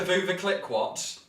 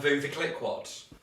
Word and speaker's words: Veuve Clicquot: Is it a Vuva Click-What?